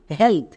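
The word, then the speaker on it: health: যেমন এইচ এর জন্য হো, ই এ এর জন্য একার, তাহলে কি হলো হয়ে একার। এল, এল এর জন্য লো এবং শব্দের শেষে টিএইচ আছে, টিএইচ এর জন্য থো, তাহলে একসঙ্গে উচ্চারণ করো এইচ ই এ এল টি এইচ, হেলথ।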